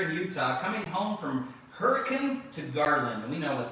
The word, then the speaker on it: Hurricane: had fun in hurricane when you're in utah it's not hurricane it's hurricane it's hurricane that's right you gotta say it right so what are we